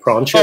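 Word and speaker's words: Proinsias: It's Prontius. Oh, yeah, I do mean Cassidy himself. Yeah. I'm sorry, yeah. It's Prontius, yeah.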